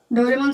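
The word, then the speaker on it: ドラえもん: इसका एग्जांपल दूं मैं आपको तो डोरेमोन सबने देखा है मैंने देखा है बचपन में आपने भी देखा ही होगा मैंने बहुत देखा है आपने भी देखा ही होगा डोरेमोन तो इसको क्या पढ़ेंगे अपन क्या पढ़ते हैं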